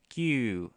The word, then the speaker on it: 九: And just so you know, Q can also be pronounced ku, like KU in Romaji.